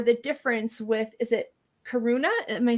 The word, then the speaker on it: Karuna: What is the standout or the difference with, is it Karuna? Am I saying it right? With the Yes, Karuna Karuna Reiki is Reiki of divine compassion.